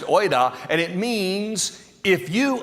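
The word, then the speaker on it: οἶδα: See, the word used here in the Greek is a word, it's pronounced oida, and it means if you understood.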